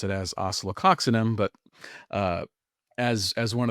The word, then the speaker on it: Oscillococcinum: So, a good sum up and I pronounce it as oceloxinum, but uh as as one of the popular ones.